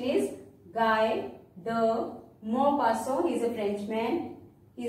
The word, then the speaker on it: Guy de Maupassant: Pronunciation is Guy de Maupassant. He is a Frenchman. He is a French novelist. See, T at the end is silent because in French, consonants we don't pronounce